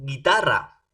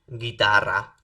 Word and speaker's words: guitarra: Para poder pronunciar, ¿no? Con el sonido de la G, ¿no? Tengo que agregar una U entre la G y la vocal E o la vocal I.